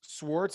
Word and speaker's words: Swarts: sweet um yeah so do a uh and swartz is how you say your last name yeah